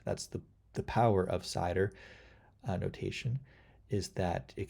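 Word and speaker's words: CIDR: uh it's called slider cider no notation class interdomain routing pronounce cider uh so it's the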